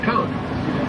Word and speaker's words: conch: You can't be in Key West more than 10 minutes without hearing that word conch. And that's spelled C-O-N-C-H, but it's pronounced conch like a conch on the head.